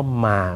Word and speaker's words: ม้า: มีความหมายต่างจากอีกความหมายหนึ่ง ยกตัวอย่างเหมือนเดิม เช่น คำว่า มา เมื่อครู่นี่ มา ไม่ปรากฏรูปวรรณยุกต์ใด ๆ เสียงสามัญ หมายถึง ทุกคำ ม้า ในภาษาไทยไม่มีความหมาย ปรากฏรูปวรรณยุกต์โท ออกเสียงเป็นเสียงตรีว่ามาม้ามีความหมายว่าอะไรนั้นหมายถึงสัตว์อีกประเภทหนึ่ง คือ เป็นสัตว์เลี้ยง อย่างนี้เป็นต้น ตระกูลภาษา ตอน 3